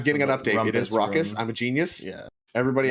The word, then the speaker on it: Raucous: It is Raucous. I'm a genius. Yeah. Everybody else pronounces things wrong but me.